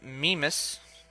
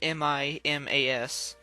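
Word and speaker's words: Mimas: out saturn has a moon named me miss I think that's how I think that's how you pronounce that it's mi mas and of course I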